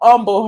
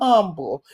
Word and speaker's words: humble: The mention of Jamal Bryant without even saying his name is going to humble her every time. Not humble. Humble. The H is silent to make you go even lower.